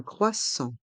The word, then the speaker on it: croissant: chaud est muet chaud un chocolat chaud un croissant un croissant le thé de croissant est muet